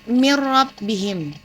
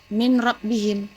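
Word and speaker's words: مِنْ رَبِّهِمْ: Cara membacanya itu mir rabbihim, bukan min rabbihim, tapi yang benar mir rabbihim.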